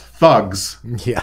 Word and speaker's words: THUGS: It's pronounced thugs.